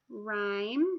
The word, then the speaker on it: rhyme: an R H so if you see an RH guess what is silent this time the H is silent you're again just gonna hurt hear that are sound like if I had the word rhyme let's see if I